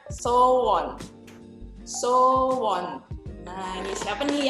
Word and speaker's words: Sowon: Bisa mereka ngomongnya sowon atau sowon kayak gitu ya. Jadi sebetulnya cara bacanya adalah so-won. So-won. Bukan so-won, tapi so-won. So-won.